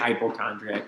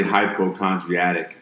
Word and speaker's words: hypochondriac: I think it's hypochondriac, yeah. Hypochondriac? Yeah, it's hypochondriac. I've learned that word. But I was trying to say hypochondriatic.